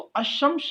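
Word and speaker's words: الشمس: की कोशिश की है, तो अशम्स जो लफ्ज है इसके शुरू में जो लाम इस्तेमाल किया गया है अलिफ, इसे आप पढ़ते नहीं हैं, इसको प्रोनाउंस नहीं करते, इसका तलफ़ुज़ नहीं करते, सीधे आप शीन की साउंड आपको उसकी आवाज़ सुनाई देगी।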